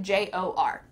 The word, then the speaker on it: drawer: In fact, it just sounds like jor, jor, jor. There is a DR at the beginning of this word, but just forget it, jor, jor.